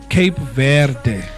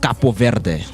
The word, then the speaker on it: Cape Verde: Cape verde. Capo ver. So Cape, it's the English way of pronouncing Cape Verde. But the initial pronunciation because they were colonized by French. It's pronounced Capo Verde.